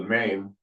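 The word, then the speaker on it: 馬: There's the head, neck, body, and tail, the mane, and 4 legs. And that's pronounced ma in Mandarin. Ma, it's also pronounced ma in Cantonese.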